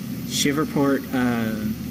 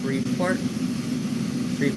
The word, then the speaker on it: Shreveport: I think it's pronounced Shreveport. Shreveport.